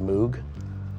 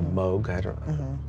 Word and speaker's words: Moog: be more familiar with Moog or Moog it's very afraid to pronounce both ways um it just kind